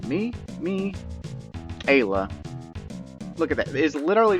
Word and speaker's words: Ayla: it but i would i would go with ayla i mean come on come on it is kayla without the k kayla respects strong people